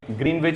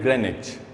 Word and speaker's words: Greenwich: I know you have been pronouncing it Greenwich for so long, but the correct pronunciation of this word is Greenwich.